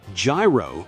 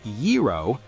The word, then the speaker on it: gyro: At a Greek restaurant, an American tourist tried to order a gyro, but pronounced it gyro with absolute conviction. When the waiter patiently corrected him, "It's yero," he waved his hand dismissively.